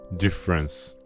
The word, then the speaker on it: différance: So one of Derrida's most famous ideas appears here, différance, spelled with an A. In French, différance and difference sound identical. You cannot hear the difference. It is visible only in the writing.